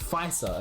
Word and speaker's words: Pfizer: And it's pronounced Pfizer, apparently.